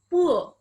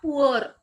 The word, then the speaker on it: poor: So we'll just say poor, not poor. In Indian people say poor because we have the habit of pronouncing R. But in standard pronunciation, R should be silent.